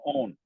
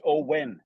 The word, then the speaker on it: Owen: I was going Owen, but it's Owen. There's a W in there, and I just like, oh fuck, there is.